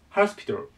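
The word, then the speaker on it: hospital: ハスピタルね、ローマとちょっと発音が変わるんですが、ま、ね、発音覚えといてください。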